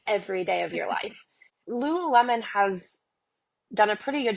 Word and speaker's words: Lululemon: Lulu Lulu lion how do you say it Lululemon yeah yeah yeah yeah they're like it's their